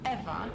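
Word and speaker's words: Ewa: Besides, Eva is spelled E-W-A, not E-V-E.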